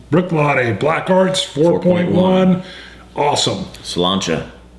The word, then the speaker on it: Bruichladdich: test dummies and uh come here for gaay pronunciation that's right bre BR it means running running Small Deer Brook latty Brook Lotty Black Arts 4.1 awesome Canta Scotch it you